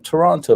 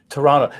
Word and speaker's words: Toronto: i got here either toronto that's interesting so you the the second t is silent such like in the